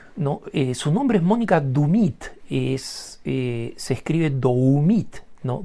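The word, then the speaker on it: Doumit: yo de Australia no su nombre es Mónica dumit es se escribe doit no d o u m i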